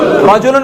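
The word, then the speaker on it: رَجُلٌ: রাজুলুন, রাজুলুন মানে কি? পুরুষ। আর একটা শব্দ সর্বশেষ বলে যাই, রিজুলুন মানে হচ্ছে পা। রাজুলুন মানে কি? পুরুষ। একই বানান, শুধুমাত্র কি উচ্চারণ ভিন্ন। রায়ের উপর জবর, রায়ের নিচে জের।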